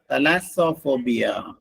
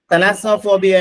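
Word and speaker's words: thalassophobia: ഓ പി എച്ച് ഓ ബി ഐ എ ഇതിന്റെ ഉച്ചാരണം ശ്രദ്ധിക്കുക തലാസോഫോബിയ തലാസോഫോബിയ എന്ന് പറഞ്ഞു കഴിഞ്ഞിട്ടുണ്ടെങ്കിൽ intense sphere of large or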